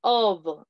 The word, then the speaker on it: of: Vale, por ejemplo, si usted se va a la letra F, dice, Spain is in the south of, la pronunciación es of, O-B, of, significa de. Pero si usted me dice,